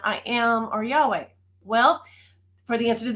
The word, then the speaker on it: Yahweh: In Hebrew, it's Yahweh.